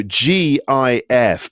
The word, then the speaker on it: GIF: Don't know why, but GIF is right because it's G. It's graphics interchange format, I think, is that that's what it stands for. So the G is for graphics. We pronounce graphics with a G sound, not a J sound.